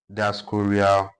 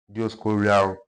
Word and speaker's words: Dioscorea: Diascorea rotundata. It depends on how you pronounce it. Dioscorea rotundata.